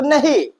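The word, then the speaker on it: know: इन्हें तो नहीं देखिए क्या हम इसे कनो पढ़ रहे हैं क्या कनो नहीं हम के को क्या कर रहे हैं साइलेंट कर रहे हैं और इसे हम क्या पढ़ रहे हैं नो पढ़ रहे हैं वाल वाक पढ़ रहे है क्या?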